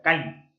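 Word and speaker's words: calli: el ser, o sea, Kali, casa. La doble L se pronuncia casi siempre como L, en náhuatl, que es la lengua de los aztecas. Kali es casa.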